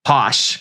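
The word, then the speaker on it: Posche: But Teresa Judice, there's a character called Kim D who has a boutique called Posh, which is spelled P O S C H E. Posh.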